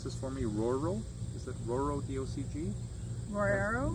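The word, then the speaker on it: Roero: And can you pronounce this for me? Roro? Is it Roro, D-O-C-G? Rorero? Rorero.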